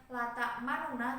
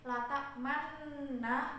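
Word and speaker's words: لا تأمنّا: dengan tanda pasien ini jadi bacanya bukan la ta'marunah tapi latak mana Nah untuk yang ini khusus yang ini membacanya itu dengan Islam atau raum jadi Lata Manna bukan hanya letak mana kalau gitu selanjutnya ada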